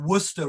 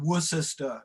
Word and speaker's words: Worcester: That's why you get Buckingham rather than Buckingham, or Worcester rather than Worcester.